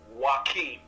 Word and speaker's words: Joachim: the way, my name's pronounced, everybody messes it up, but it's called Joachim. Okay, Joachim.